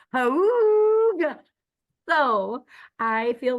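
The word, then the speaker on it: hygge: of our colleagues, Beth, it's spelled not like that. So I kept thinking it was saying Higgy, and I was like, getting Higgy with it. And then I realized then I realized I was wrong, and now it's pronounced like Hooga.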